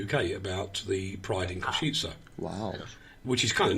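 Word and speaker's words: Košice: So it's Pride and then Kosice for Kosice, not the way he said it, Kosice.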